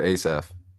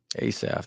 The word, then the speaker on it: Asaph: real quick for the people uh Christian producer ASF ASF there you go that's very catchy and like